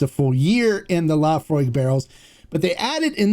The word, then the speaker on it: Laphroaig: People get so bent out of shape on how I pronounce it's is it Laphroaig? Laphroaig.